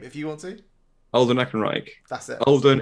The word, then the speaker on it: Ehrenreich: han solo i'm not going to try and pronounce his name if you want to older neck and reich that's it holden ehrenreich um and they brought him out and i